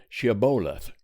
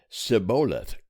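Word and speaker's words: shibboleth: nay then said they unto him say now she boleth and he said siboleth for he could not frame to pronounce it right then they laid hold on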